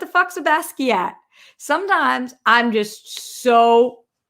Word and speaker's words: Basquiat: know oh really roxy it's pronounced baskey basket jimmy nails is basket like a basket d-a-s-k-e-e-a-t oh okay glenn